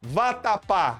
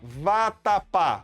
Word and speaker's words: vatapá: Agora, vatapá. Escreva aqui, ó, vatapá. Vatapá. Vatapá. A sílaba forte é pá.